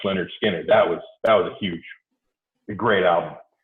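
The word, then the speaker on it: Lynyrd Skynyrd: I mean, Leonard Skinner, when they released Pronounced Leonard Skinner, that was a great album.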